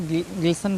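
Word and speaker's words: glisten: टी ई एन है, इसको हमने ग्लिसन पढ़ा, ठीक है। मैच में टी सी एच आया है, टी साइलेंट है, इसको मैच पढ़ा हमने, ठीक है।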